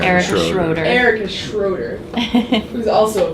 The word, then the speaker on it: Erica Schroeder: Next to him, we have, you gotta give me the proper pronunciation. Erica Schroeder.